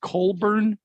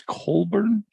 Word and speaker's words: Cockburn: uh writer or singer bruce cockburn pronounced colburn one of his popular songs if he had a rocket launcher not sure if you remember i i don't bruce colburn hmm boy it seems